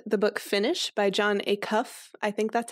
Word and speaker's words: Acuff: I am going to recommend the book Finish by John Acuff. I think that's how you say his name. Acuff, like a cuff link, but just Acuff.